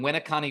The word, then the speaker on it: Winneconne: I am joining you this morning, and I'm just going to say it for you, from Winneconne, Wisconsin. That is how you pronounce that.